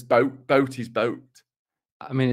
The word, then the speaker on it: Boot: it's actually Das Boot double O is pronounced o like so it's Boat Boat is boat I